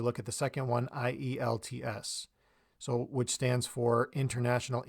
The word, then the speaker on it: IELTS: English Language Testing system when people say this in spoken language they'll say IELTS so they'll say the letter i' and then else because we can pronounce the else part as a like an english word almost so it's a combination of